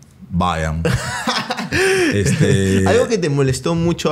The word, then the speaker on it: Bayern: Pero normalmente la gente pronuncia Bayer. ¿Y cómo la se gente pronuncia? Dice Bayer. O vas a matar cucarachas, le ¿y digo. ¿Y cómo se pronuncia? Ah, Bayern.